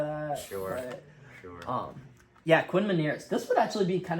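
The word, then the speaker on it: Meinerz: His name is Quinn Manz. Sounds like minor.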